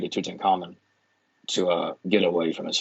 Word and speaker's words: Tutankhamun: changed his name to Tutankhamun to get away from his father's religion, and now, or I think it could also be pronounced Tutankhamen. That's pretty much the same thing, yeah.